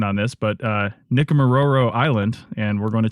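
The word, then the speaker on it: Nikumaroro: They recently completed, as I said, their summer trip to, and you'll have to correct my pronunciation on this, but Nickamororo Island, and we're going to talk about what they learned.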